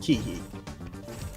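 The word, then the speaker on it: Keahi: e a h i I absolutely looked up to pronunciation of that it is in fact pronounced Kei moving on moving on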